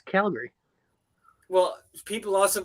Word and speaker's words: Calgary: GoPro to be honest with you Calgary yeah call Gary call Gary where did cap call Gary come from it's Calgary well people also pronounce it Calgary I've heard yeah Calgary I've